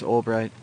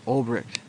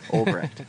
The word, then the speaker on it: Ulbricht: is that we all need to support Ross Ulbricht. I said it wrong. Ulbricht. I'm going to say it right someday. Ulbricht.